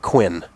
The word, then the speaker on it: Quinn: moves into the championship Jack Quinn rhymes with Flynn though that's true we